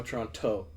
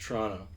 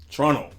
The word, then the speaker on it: Toronto: You don't pronounce the hard T at the end. No Toronto, just Toronto. Toronto.